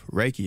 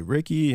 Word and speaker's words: REIKI: No one, just like, I say REIKI and they say Ricky and it's like, sure.